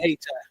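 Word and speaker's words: Hayti: They pronounce it Haiti.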